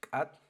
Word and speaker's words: K'at: It's pronounced Kat.